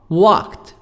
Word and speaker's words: walked: American, walked. خلي بالنا الدي هنا هتنطق A, T, T sound. هتنطق صوت T مش الدي. Walked عشان قبلها حرف الكي.